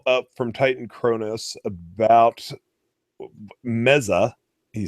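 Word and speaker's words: Meze: So we got a follow up from Titan Cronus about Meza. He says is actually the pronunciation.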